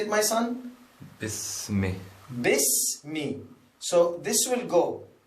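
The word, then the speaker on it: بِسْمِ: So, when we write like this, bismi, many people they say bi-ismi. Like they pronounce like bi-ismi, iqra bi-ismi. That is wrong. Why? Because there is no hamza on it.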